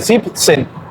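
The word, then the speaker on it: siebzehn: A excepción del 17, que se corta la terminación del 7, 7, que solo se dice sip, sen.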